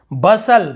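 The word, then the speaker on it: bustle: यहाँ पर देखिए बसल, बस्टल नहीं पढ़े, बस्टल यानी होता है हलचल मच जाना।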